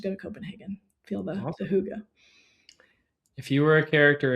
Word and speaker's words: hygge: Like, yeah, there's this concept of, I think it's called hygge, pronounced as Hygge.